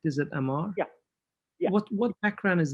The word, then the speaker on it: Amar: By the way, Yeah, Amar, am I pronouncing your name correct? Is it Amar?